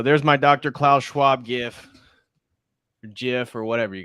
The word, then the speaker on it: GIF: call it emoji okay it's gif is it gif I always say if people tell me it's Jif it's a hard a hard G hey moms say gif